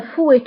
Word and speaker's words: fouet: فهنا fouet تكتب بالت في آخر الكلمة ولكن لا ننطقها، نقول fouet.